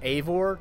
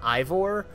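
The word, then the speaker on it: Eivor: guyvore except now i i understand that it's pronounced avor not ivor um and so guyboard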